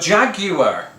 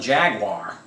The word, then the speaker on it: jaguar: doing that for um but jaguar uh is how i pronounce it rather than jaguar or jaguar jaguar right i don't know